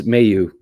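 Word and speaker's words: Mailloux: And I know a lot of the French media, because my M-A-I-L-L is pronounced my for French names as a rule, but it's Mayu is how he, you know, I mean, he grew up in Southern Ontario, right?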